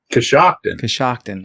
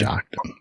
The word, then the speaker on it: Coshocton: Coshocton. Okay. Coshocton.